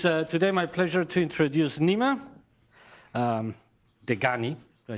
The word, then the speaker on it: Nima Dehghani: So it is today my pleasure to introduce Nima Dehghani.